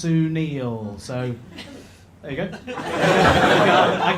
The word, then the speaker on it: Sunil: I said to him hello mate my name's Sunil and he just went uh nope absolutely not how you do that it's actually pronounced Sunil so there you go I can't I can't